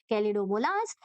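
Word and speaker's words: Chlamydomonas: नाम अच्छे से सुनोगे कैलिडोमोनास ए एच जो रहता है वो साइलेंट रहता है कैलिडोमोनास और स्पाइरोोगाइरा स्पाइरोगाइरा इस तरह के लंबे-लंबे स्ट्रक्चर रहते हैं।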